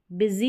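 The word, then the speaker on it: busy: हैं, शॉर्ट में आएगा, बिजी, यहाँ पर यू को भी ई पढ़ा जा रहा है, UI के कॉम्बिनेशन को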